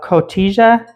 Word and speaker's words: Cotija: 2 cups of cotija cheese. Cotija. Okay. Yeah. J is silent.